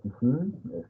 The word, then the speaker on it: Kisin: Kimi, el dios de la muerte, o Kisin, como se pronuncia en maya yucateco.